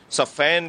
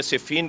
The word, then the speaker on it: صفین: جنگ ہو رہی تھی، صفین کہیے یا صفین کہیے، یہ میدان صفین بھی تلفظ ہے اور صفین بھی تلفظ